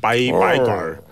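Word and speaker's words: 白干儿: 그래서 이제 그거를 읽을 때 이제 그쪽이 그 얼 하는 그런 발음을 많이 써요. 그래서 이제 바이걸.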